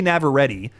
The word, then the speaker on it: Navarrete: Indy Navarrete is how you actually pronounce her name.